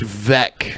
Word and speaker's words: Weck: I'm guessing it's pronounced Veck. Veck. Yeah. Weckenweisen. W's are pronounced V's.